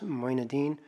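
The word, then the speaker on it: Moinuddin: the record yes yes my name is Moyna Dean it's spelled last name is spelled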